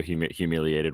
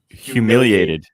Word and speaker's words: humiliated: Humiliated. There's only one L. Humiliated. You're trying to combine humiliated and mutilated. And right, yeah. You're mutilating humiliated.